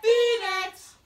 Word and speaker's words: Phoenix: You spell it with a P-H, but you say it Phoenix.